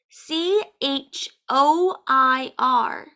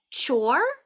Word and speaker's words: choir: doesn't make any sense there's no W in this word but that's how we say it choir choir one definition